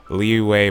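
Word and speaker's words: Liyue: video on it and supposedly it's leeway but there's like a y where you put the w in your speech and i do like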